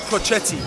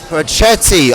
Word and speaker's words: Pochetty: It's pronounced Pochetty. Pochetty.